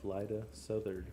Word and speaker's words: Lyda Southard: ago lived a woman by the name of lyda southard that's how you pronounce your name all right cool because i